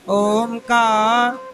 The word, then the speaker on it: ओम: ओम का शुद्ध उच्चारण क्या है? ओम। आ बोलो, आ ऊ मा। अब तीनों को बोलना ओम ओम, आ ऊ ओम। तीनों उच्चारण होने चाहिए, आ ऊ मा। आ बोलो, आ ऊ मा, तीनों को जोड़ा तो क्या उच्चारण बना? ओम ओम ओम। ये उच्चारण शुद्ध है, ओम।